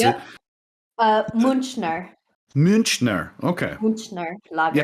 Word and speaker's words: Münchner: Yeah, I wasn't sure if it would be like a CH or a K sound, but here we are. I think that's how you say it, because Munich is München.